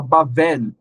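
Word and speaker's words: בָּבֶל: e a letra lit E aí você fala bavel é assim que se pronuncia então na ela era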